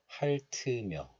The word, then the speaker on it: 핥으며: So this letter is pronounced as 할 in isolation, but it is followed by a vowel of the next letter. So liaison or linking occurs, and then the hidden T sound moves to the next letter. So this 으 becomes 트, 트. So this is pronounced as 핥으며, 핥으며.